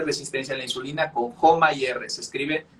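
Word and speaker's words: HOMA-IR: hecho detección de resistencia a la insulina con joma y r se escribe h o m a guión y r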